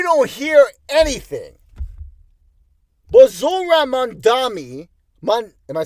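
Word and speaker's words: Mamdani: But Zor Mandami, am I saying it right? Mandani, yes, runs a grassroots campaign.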